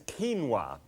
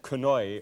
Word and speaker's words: quinoa: um what I'm going to deal with is quinoa and uh q-u-i-n-o-a and you might have pronounced that kanoi or something like that I used to and